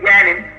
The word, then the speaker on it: Yaanuwn: But they say Yaanuwn, it's pronounced Yaanuwn, depending on the dialect of what galaxy you're in, the pronunciation changes.